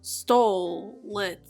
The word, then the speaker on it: Stolitz: all ships have names we call this one stole it so let's tell it okay i'm really trying here guys the o is silent mostly because there isn't one now i wanted to